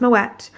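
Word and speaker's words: Moët: bottles of Moet and yes it is pronounced Moet I do know that for a fact actually I met up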